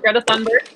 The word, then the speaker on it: Greta Thunberg: Our second question today is, do you think Greta Thunberg, is that how you say it? Yep, Greta Thunberg.